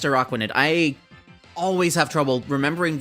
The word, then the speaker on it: Araquanid: I think it's pronounced Araquanid.